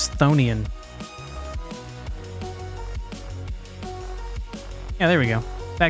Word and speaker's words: chthonian: HP Lovecraft creature well the I thought a chthonian but it's probably just thian yeah there we go that guy he's a